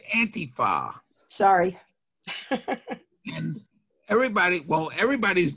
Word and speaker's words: antifa: all right well first of all it's not pronounced like donald trump does it's anti-far sorry and everybody well everybody's doing the donald